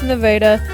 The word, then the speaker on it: Nevada: I start in southwest Missouri in the town of Rich Hill, then head south towards Nevada. Yep, that's how the town is pronounced.